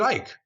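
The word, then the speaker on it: Icke: the spring of 94 david ike or ikey depending on your pronunciation showed up and spoke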